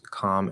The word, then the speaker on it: calm: normal speech thing um do you pronounce com and palm with an l no um the standard thing uh i've noticed that there are definitely people who do which is very strange to me um if i remember right from my research um the standard thing across most of american english is the l is no longer pronounced um i don't know